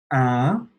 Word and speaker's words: un: So un, it's this nasal sound in the back of your throat.